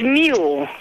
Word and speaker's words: Mule: This is Miss Mule. It sounds like Yule, but, and it rhymes with it. My name is Mule.